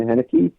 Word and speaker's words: Heinicke: Well, talking about Washington football team, I mean, their quarterback Paylor, how do you pronounce his last name? Heinicke.